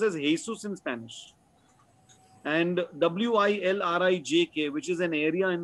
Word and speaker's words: Wilrijk: So later on, I realized that the J in their language is pronounced as a vowel sound, as a Y.